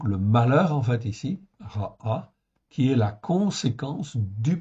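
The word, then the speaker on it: רעה: en fait ici, donc c'est le mot ra allongé, avec un kamatz et un e, ça se prononce ra'a, qui exprime d'abord le féminin du mot ra, en fait ici.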